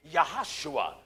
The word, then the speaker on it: Yahashua: There is no J's in the Hebrew language, so the proper pronunciation of Joshua would be Yahashua.